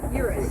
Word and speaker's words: Eurus: Oh God, how do you say this? Eurus? Eurus, yeah.